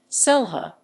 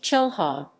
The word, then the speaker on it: Xelha: zelha zelha spanish pronunciation selha spanish selha sometimes pronounced chelha yucatech maya selha is